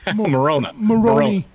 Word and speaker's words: Moroni: Did I say it correctly? Moroni. Like Moroni. macaroni. Macaroni.